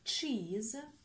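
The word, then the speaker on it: cheese: Следующее у нас чиз. Вот оно наше сочетание. Опять. Чиз. Чиз. Буковка С. Перед гласной читается звонко. З. Чиз. Чиз. Буковка И по общему правилу не произносится.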